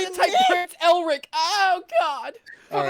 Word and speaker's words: Elric: A disturbed-looking Hinata was already talking to Eldrick as she approached him. Elric.